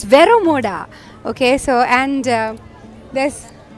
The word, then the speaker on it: Vero Moda: right there hi it's vero vero mod its Vero Moda okay so and this like Vera Moda ilium